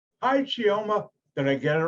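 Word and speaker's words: Chioma: how to pronounce it it is pronounced chiawa yeah thank you what a pretty name hi geoma did i get it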